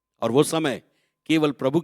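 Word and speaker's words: צום: अब्रा इब्रानी भाषा में दो शब्द आए हैं उपवास के लिए सोम एक शब्द आया टी एस ओ एम T silent है सोम सोम का मतलब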